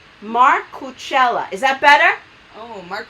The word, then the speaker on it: Marcucella: Macrolia is saying it's the best way to say. Oh wait, he's telling me how to pronounce his name. Marcucella.